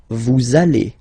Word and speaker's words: vous allez: Same thing here, we'll have this little link between the two. Vous allez. Vous allez.